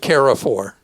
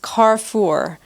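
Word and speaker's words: Carrefour: you pronounce that I always have called it KFOR is pronounced carfor by the way it means Crossroads in French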